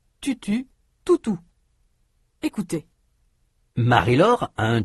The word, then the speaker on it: tutu: Pour prononcer la voyelle de tutu, U, le bout de la langue vient appuyer contre les dents inférieures. Toutou, ou, et tutu, U.